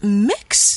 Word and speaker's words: M!X: 本 and it's called Mix. That's right. It's spelled M!X, but it's pronounced like mix, M-I-X, even though it has the exclamation mark.